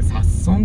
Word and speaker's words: 札樽: を見て、あ、これ札損って読むんだって思った思い出があります。